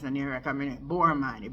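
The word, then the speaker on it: Boorman: by prominent businessman Christopher Borman make sure my pronounce Boran b o o r m a n yes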